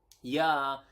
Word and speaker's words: ya: how do we say yes in basa which is yeah similar to German I believe right yeah and then